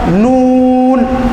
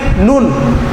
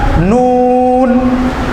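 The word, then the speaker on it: نون: বর্ণ লিখতে যদি বাংলা দুটি বর্ণ লাগে এই উচ্চারণটা লিখতে তাহলে এখানে এক আলিফ টান দিয়ে পড়তে হবে যেমন নুন আপনারা আমার সাথে সাথে বলুন নুন নুন নুন আর আমরা যদি তাড়াতাড়ি বলে ফেলি নুন নুন তাহলে আমাদের হরফটা সঠিক ভাবে উচ্চারণ হবে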